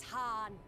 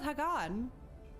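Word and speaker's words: Hien: I shall enjoy this han han it's pronounced Han I thought it was Hagan is this truly necessary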